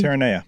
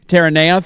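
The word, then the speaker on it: Terranea: I think it's called Terania. I don't know how to actually pronounce it, but that's what it sounds like to me. Terrena. Terana. Thank you.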